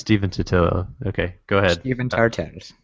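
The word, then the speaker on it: Stephen Totilo: How do you pronounce his name? Stefan Totilla? What is it? Tartaros. Stefan Totilla. Tartaros. It's Steven Totillo.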